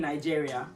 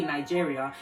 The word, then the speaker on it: Nigeria: Just because if you're in France and you're speaking French, you're not going to say Nigeria. You say Nigeria.